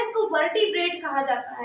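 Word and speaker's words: vertebrae: biologically ठीक है व वर्टेब्रा कहते हैं ठीक है जिसकी स्पेलिंग होती है का स्पेस नहीं बोल रही हूं वी ई आर टीई बी आर ए ई वर्ट ब्री ठीक है ये उसको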